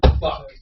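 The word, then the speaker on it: Phuk: Yeah, like P-H-U-K, fuck, like a legitimate last name, pronounced fuck.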